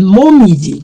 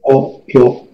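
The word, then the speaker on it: 紅葉: 这个也可以念成 momiji 的，没有错，等于红叶。红叶的音读怎么念？来，koyo， koyo 很好哦，好，刚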